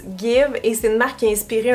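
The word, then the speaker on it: GXVE: parle de juin 2022 s'écrie gx v e mais on prononce guide et c'est une marque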